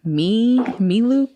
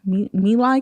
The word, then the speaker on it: melee: But I get a lot of Milu kills, Melee kills. Where you knife them. Melee? I always pronounce it wrong.